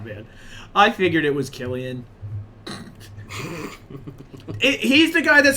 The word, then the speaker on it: Cillian: Do you say Cillian or Killian? Is it spelled with a C? Yeah. Cillian, probably. I don't know. Let's. I wonder if they say it. Let's look at this guy. Killian. Oh, yeah, shit, they say it Killian.